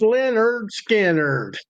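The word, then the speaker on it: Lynyrd Skynyrd: Oh, my southern buddies, my uh Leonard pronounced Leonard Skannard.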